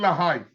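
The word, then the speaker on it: LaHaye: Til la se escribe til la con, pero se pronuncia la High.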